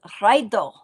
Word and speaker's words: Raido: This is Raido and you roll the R.